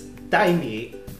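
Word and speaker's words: 黛米: It's Dai Mi. Like dumb rice. Dai Mi. It's rice. Funny. That's just the Chinese pronunciation of Demi.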